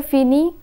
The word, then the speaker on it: finis: We find that je finis, tu finis, il finit, and elle finit have the same pronunciation. The final letters are not pronounced.